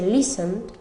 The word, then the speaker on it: listen: Luego por último tenemos la T, que la omitimos, como en el caso de escuchar, que se dice listen, no pronunciamos la T, no decimos listen.